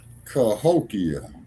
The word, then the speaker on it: Cahokia: Cahokia. Yeah, Cahokia.